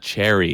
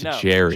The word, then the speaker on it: Jerry: It's not Cherry, it's Jerry.